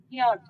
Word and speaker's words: yacht: pronounce as yet yet c will be silent here okay yift c and h both will come as w yacht yacht yacht okay now